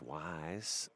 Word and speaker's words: Wise: And it's Wise.